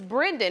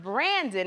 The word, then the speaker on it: Brendan: and somebody was like, it's not, it's Brendan. And I said, what? And they said, no, it's Brendan, it's not Brandon. And I said Brendan, and they said, no, you said it wrong.